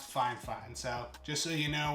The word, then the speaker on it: Fifine: usb microphone now it's spelled f-i-f-i-n-e but it's pronounced fine fine so just so you know when you're looking